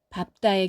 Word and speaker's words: 밟다: 마지막 단어는 예외 단어입니다. 리을, 비읍 겹받침은 을로 소리가 나는데 밥다의 경우만 비읍을 선택해서 읍으로 소리 냅니다.